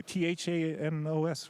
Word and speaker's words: Thanos: you t-h-a-n-o-s right yeah but you say like it's an e you're fantastic no because any people that watched whatever man you keep going okay can you pronounce it thanos there we go that's the one okay like like oh